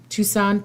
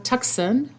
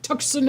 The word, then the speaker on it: Tucson: 10 years between uh Tucson Tucson my uncle used to always joke around saying Tucson Arizona because that's the way it's spelled between Texan and Tucson